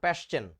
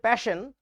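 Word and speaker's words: Paschen: serially মুখস্ত করে ফেলো প্যাশচেন উচ্চারণটা একচুয়ালি প্যাশন আমরা বাঙালিরা বলি প্যাশ্চেন যাই হোক সো লাইমেন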